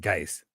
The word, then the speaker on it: Geist: I need to pump the brakes, but I'm like, Always pronounce it Geist. Thank you. Lawson, I pre-ordered out on Strange, but still haven't received it. Where do you pre-order them from? Geist rhymes with nice.